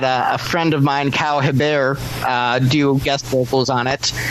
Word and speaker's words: Hebert: Kyle, and then last name is Hebert, so like Herbert.